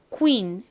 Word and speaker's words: queen: 실제 영어 발음을 잘 들어보면 퀸이 아니라 queen, queen 이렇게 쿠인을 빨리 한 것처럼 들립니다.